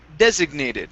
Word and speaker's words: designated: Here, this word is pronounced designated. So the stress is at the very beginning of the word.